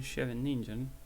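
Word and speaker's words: Scheveningen: not too relevant today this is a sicilian chevy ninja that's how you say it i'm not too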